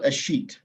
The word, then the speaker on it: escheat: in the chat because the word is not spelled in a way that makes any sense for how it is pronounced. So it's called escheat, is the process of